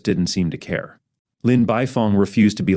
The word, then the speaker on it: Beifong: It's pronounced Beifong," Naruto said as he laughed out.